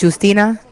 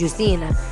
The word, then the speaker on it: Justina: So like I know in in Spanish is like you don't say J but in Spanish it's juicina. Justina.